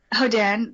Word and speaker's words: Hodan: Yes, Hodan, there's multiple pronunciations, Uh, so that will do.